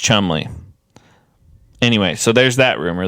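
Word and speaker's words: Cholmondeley: Martian of CH delay oh it's pronounced Chumley but it's spelled CH chonday but it's pronounced Chumley anyway so there's that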